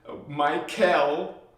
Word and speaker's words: Michael: good good Archangel Michael Michel if you want to get used to this get used to saying the L PR part pronounce the L which represents Elohim Anu